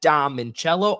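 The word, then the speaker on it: Dom Minchella: As you can see on the ticker down below, you can follow me on X at Dom Mincello, or if you're listening, it is spelled DOMMINCHELLA.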